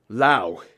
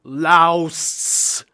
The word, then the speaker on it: Laos: However, I later found out that the silent S is just how the native Lao people pronounce it.